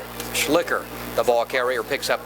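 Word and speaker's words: Schlicher: that's really what's possible i believe the pronunciation is slicker c h e s-c-h-l-i-c-h-e-r j schlicker the ball carrier picks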